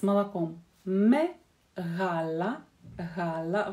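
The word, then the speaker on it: γάλα: В греческом языке, когда мы видим гамму, просто гамму, буковку, мы ее произносим. Знаете, как на юге в России говорят «г», вот немножко вот так вот как-то глухо «г», «г». На Украине, в Украине тоже это характерное произношение этого звука «г», именно «г», не звонкое «г».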